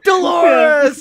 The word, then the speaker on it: Dolores: Yeah, My name rhymes with a part of the female anatomy. Dolores.